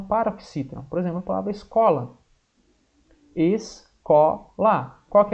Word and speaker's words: escola: Não, vai ficar escola. Escola. Então não dá certo. É o escola. O có é mais forte.